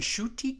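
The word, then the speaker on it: Ncuti: his name is spelled NC UTI but it's pronounced and shooting and shootie got wa oh i guess how old that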